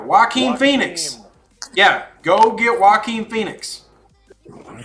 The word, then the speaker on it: Joaquin: It should be Joaquin. Whatever. Joaquin Phoenix. Yeah, go get Joaquin Phoenix.